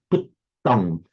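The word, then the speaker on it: puttaṃ: You actually got the vowel, sorry, the syllable quantity right in puttam, but it came a bit more, a bit like puttam, so puttam, with the double T very distinctly held to make it a heavy syllable.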